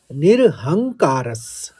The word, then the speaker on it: निरहंकारः: फिर निर्ममो, तीसरे चरण में देखिए, निर्ममो निरहंकारस, आघात लिया, हंग कहा और कारस कह दिया।